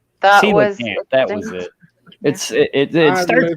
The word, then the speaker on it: Coelacanth: Coelacanth, or however you pronounce it. Coelacanth. Coelacanth.